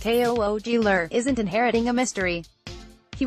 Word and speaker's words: Kugler: Kugler, pronounced Koogler, isn't inheriting a mystery.